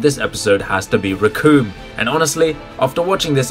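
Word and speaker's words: Recoome: The name's Riku, and it rhymes with doom, and you're gonna be hurting all too soon!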